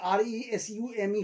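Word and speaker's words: résumé: verb and note resume underline underscore this pronunciation resume this stands for your bio data so from today if you talk about if you use uh the word r-e-s-u-m-e for your bi-dot bio-data you must pronounce this word as resume so thank you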